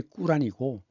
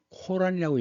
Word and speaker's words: 꾸란: 이슬람 발음이 꾸란이고 코란이라고 얘기하는 건 영어식 발음입니다. 그래서 그 힌두의 성전 리그 베다를 써 쓰는데 이시 초기를 베다 시대라 그래요.